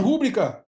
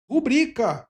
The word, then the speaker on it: rubrica: É rubrica e não rúbrica. Então, a palavra paroxítono, muita gente fala errado mesmo, rubbrica, mas o correto é rubrica.